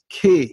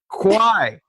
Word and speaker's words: Quy: Her last name is spelled Q-U-Y, and it's pronounced Kwai, like the River Kwai, bridge on the River Kwai.